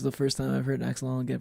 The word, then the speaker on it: axolotl: This is the first time I've heard axolotl get pronounced axolotl instead of the other way, which I am fine with.